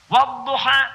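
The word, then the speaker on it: والضحى: Saya pernah bacakan pada orang Afrika yang biasa baca pakai e. Dia pakai e. Saya baca pakai a.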